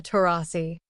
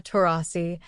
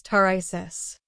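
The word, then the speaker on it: Taurasi: time to introduce Diana tasi whoopy made a noticeable mistake mispronouncing her last name as tesis the moment was awkward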